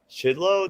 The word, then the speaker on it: Chidlow: All right, we're here with John Chidlow. Did I pronounce that correctly? That's right. Yeah, yeah, Chidlow.